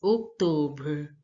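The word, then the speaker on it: octobre: speaker to pronounce September October is pronounced as October October here now see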